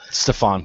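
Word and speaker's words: Stephon: Like I said, I don't know how to pronounce his name. Stefan, please.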